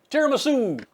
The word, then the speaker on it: tiramisu: stack so next up tiramisu which for the doggies rhymes with no nuts for you poor doggies this